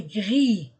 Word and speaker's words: gris: prononciation le gant est gris le gant est gris je ne prononce pas le S le gant est gris